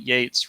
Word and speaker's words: Yeats: No, it rhymes with come back at ya, the way that Yeats rhymes with hates, not heats.